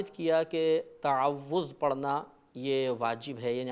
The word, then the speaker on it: تعوذ: میں مبتلا ہو جاتی ہے۔ صحیح لفظ ہے تعوذ، تفعل کے وزن پر۔ ہمارے بعض بھائی پڑھتے